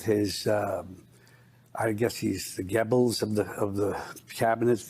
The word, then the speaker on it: Goebbels: It's Joseph Goebbels, first of all, is who he's trying to reference. So he's got the name wrong for as a student of history as he is.